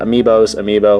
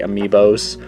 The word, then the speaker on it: amiibo: Amiibo, whatever you want to say. I believe the technical correct way to say it is Amiibo, like plural. Like Amiibo is already plural. You don't have to say Amiibos, but I still do